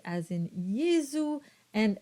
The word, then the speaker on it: Jesu: So you would get a very soft production of a Z sound as in Jesu and resurrexit.